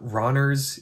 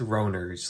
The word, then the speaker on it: Ronner's: The name is not Ronner's, it's Roner's, like Rhodes or Rhodesia.